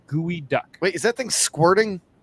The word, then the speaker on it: geoduck: their very first geoduck oh it's pronounced gooey duck wait is that thing